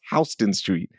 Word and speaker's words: Houston Street: Houston Street is pronounced Hston Street. So like that H is different.